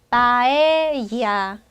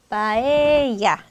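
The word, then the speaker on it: paella: 미인 이런 뜻이 돼요 스페너는 절대로 여기 앞에 결합되지 않고 리을 발음이 나지 않는다는 거죠 바에야 바에야 자 이렇게 됩니다 그래서 절대로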